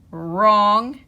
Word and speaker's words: wrong: front of it wrinkles so all the w r words that only have the r or sound and we don't hear the w is right wrench wrists rapping wrong and wrinkles so now